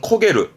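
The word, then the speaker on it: 焦げる: 대부분 훈독으로 써요. 발음은 코게르.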